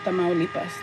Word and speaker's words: Tamaulipas: Tamaulipas, Tamaulipas, Tamaulipas, Tamaulipas, Tamaulipas.